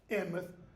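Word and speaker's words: Alnmouth: the town of Alnwick, Anmouth, A-L-N, mouth, but it's pronounced Anmouth, and go to Alnwick Castle, which is about 5 miles outside of Alnwick.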